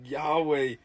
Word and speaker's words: Yahweh: Yahweh. Yahweh is the unspoken name of God. Inhale Yah. Exhale way.